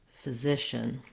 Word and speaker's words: physician: So for this word, you would start with the Z sound, Z, zishin, and then just add your first syllable as a light little touch getting to that second syllable. So for example, you try zishin, physician. You might find that helps you get that first vowel.